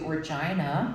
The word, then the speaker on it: Regina: a musical coming to Regina which is the big city in Saskatchewan rhymes with fun um um and it